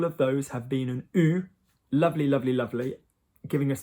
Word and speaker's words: eu: And this bothers you all because everywhere else in French that you have the pronunciation, you have E and U together, you have the pronunciation E. So I can, je peux, he wants, il veut. Whatever's going on, EU normally in French will give you E. But here it sounds like all the others that we've just done, U.